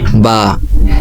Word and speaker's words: ب: বায়ের উচ্চারণ কোনো টান ছাড়া স্বাভাবিক এক আলিফ হবে, যেমন বা। আমি আবার উচ্চারণ করছি বা।